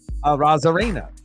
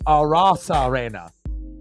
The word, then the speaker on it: Arozarena: Ks, left fielder Randy Arozarena. But as Randy says it, he says it Randy Arozarena. So obviously you'll hear the announcers say Arozarena, but I think the correct pronunciation is Arozarena.